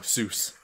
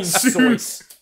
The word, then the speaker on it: Seuss: No, Seuss. You mean Soyce. Soyce? Soyce, that's how you pronounce his name, Dr. Soyce.